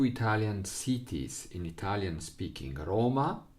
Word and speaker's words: Roma: cities in Italian speaking: Roma, with the accent on the first syllable, and Napoli with accent on the first syllable.